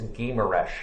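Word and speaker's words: Guimarães: with Tilda's so it's I think it's gamer Esch is the right way to pronounce it which turns out to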